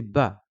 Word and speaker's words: ب: S ou autre chose le bas correspond tout simplement au B en français on va prononcer bas bas d'accord la lettre ta